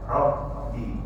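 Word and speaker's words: رب: Nah, jadi kalau membaca tasdid ditekan membacanya rabbi. Rabbi rabbi rabi bukan rabi dengan rabi beda tulisannya sama tapi suaranya beda.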